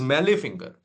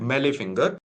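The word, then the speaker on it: mallet finger: Then fourth deformity is meal finger. T is silent meal finger.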